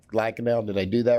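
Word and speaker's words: Lankenau: chief of surgery of brinmar and lacanau Hospital pronounced correct lacanau did I do that right that's correct okay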